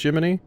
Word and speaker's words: Gemini: It was pronounced Jiminy, but this is spelled Gemini, but is pronounced Jiminy.